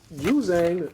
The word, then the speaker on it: Juzang: And pretty much Juzang, that's how you pronounce his name, right?